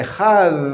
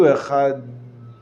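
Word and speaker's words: אחד: Rafa, or soft consonant, whereby it sounds like a TH in the English word the. So if you say Echad, that's fine.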